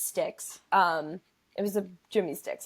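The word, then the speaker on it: Jimmy Styks: Yeah, it was a Jimmy Sticks or Stikes. I hear people say it like both ways, so I've never actually known the name of this brand. But it was a Jimmy. I'm pretty sure it's Sticks.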